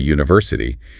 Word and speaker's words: university: Because the first sound is y sound, which is a consonant sound in English, the same for a university.